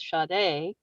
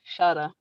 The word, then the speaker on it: Shada: is his last name shada which is what i was pronouncing as shade but it's shada like and i told